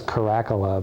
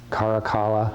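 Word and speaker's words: Caracalla: then the baths of i always thought it was karakola but my pronunciation guide says karakala i can't remember and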